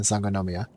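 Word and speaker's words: Sangonomiya: difficult but if you just follow the syllables like son son go no yeah there's five syllables in s nomia so as long as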